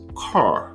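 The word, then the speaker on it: Kerr: of us off of the lake known as carr like k-e-r-r spelled like i'm sure you were thinking k-e-r-r car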